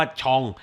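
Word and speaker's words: genre: ส่วน ใหญ่ แล้ว เนี่ย ชอง ชอง คือ แนว อ่ะ นะ ครับ ผม อ่าน ออก เสียง ตาม ภาษา ฝรั่งเศส เพราะ ว่า สถาบัน ที่ ผม จบ มา นะ ครับ เด็ก ฟิล์ม ส่วน ใหญ่ ใน รุ่น ผม มัก จะ อ่าน คำ นี้ ว่า ชอง นะ ครับ ตาม ตำรา ที่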